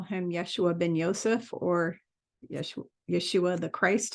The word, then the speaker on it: Yeshua: I call him Yeshua ben Yosef, or Yeshua the Christ. His name's actually pronounced Yeshua, but a lot of people like to say Yeshua because it's easier.